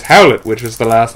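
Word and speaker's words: Hallett: JJ ll eat tt which is pronounced the same way as Howlett which was the last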